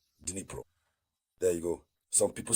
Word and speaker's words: Dnipro: It's not easy to pronounce, so I will always say Dnipro.